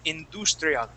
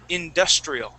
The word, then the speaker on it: industrial: Now this word you'd pronounced in more of a Spanish way, saying industrial. Okay. Yeah. Now this is industrial.